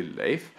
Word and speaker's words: Leif: However, when my Taiwanese friends find out that my Swedish middle name is actually Leif, they thought it was really, really funny because this sounds a lot like the Taiwanese name Laifu.